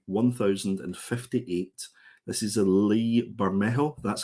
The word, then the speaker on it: Bermejo: This is a Lee Bermejo. That's how I pronounce it.